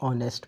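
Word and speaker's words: honest: क्योंकि एच जो है वह प्रोनाउंस नहीं होगा और यहां पे जो है ओ प्रोनाउंस होगा।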